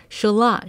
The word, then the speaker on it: Shalott: English 有些人誤以為是Lady of Charlotte Some people mistake it for Lady of Charlotte Shalott 是英國浪漫主義詩人天尼生筆下的一位仙女 Shalott is a fairy in the literature of British romantic poet Alfred Lord Tennyson 所以不要唸錯囉! So don't pronounce it the wrong way 不過，耐高溫來說 In terms of